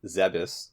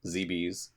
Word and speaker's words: Zebes: a live debate here how to say the planet's name but uh zebus zebes whatever you'd like to call it how is it spelled